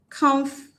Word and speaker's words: comfortable: I told you wherever you have the schwa sound in English, you don't stress that syllable. So automatically, what it means is that footable will not be stressed. So the stress will fall on the first syllable, comf.